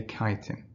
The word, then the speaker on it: chitin: I know it's spelt chitin, but we say chitin.